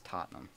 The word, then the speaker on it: Tottenham: Excuse me, it's Tottenham.